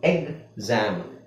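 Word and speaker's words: exam: exist ಎಕ್ಸಾಮ್ exist ಗೊತ್ತಾಯ್ತಾ ಸೋ ಇಲ್ಲಿ ಯಾವ ಸೌಂಡ್ ಬರ್ತಾ ಇದೆ ನಿಮಗೆ ಗ ಅದರ ಜೊತೆಗೆ ಜ ಜ ಅಲ್ಲ ಜ ಅಂದ್ರೆ ಜಿ ಮತ್ತೆ zಡ್ ಬರ್ತಾ ಇದೆ ಎಕ್ಸಾಮ್ ಎಕ್ಸಾಮ್ ಅಂತ ಬರುತ್ತೆ ಓಕೆ ಅರ್ಥ ಆಯ್ತಲ್ಲ ಎಕ್ಸಾಟಿಕ್ ಎಕ್ಸಬರೆಂಟ್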